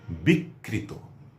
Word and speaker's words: বিকৃত: হয়েছে সেটি হচ্ছে বিকৃত এখানে ঋকার দিয়ে লেখা হয়েছে আমরা ঋকার যে বর্ণটির সঙ্গে আছে তারই উচ্চারণ করব আমরা দত্ত করবো না আরেকটি শব্দ বলি নেত্রী